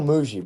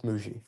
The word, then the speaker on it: Mougey: Chris, is it Muji or Mugi? It's still Muji, bro. It's Muji.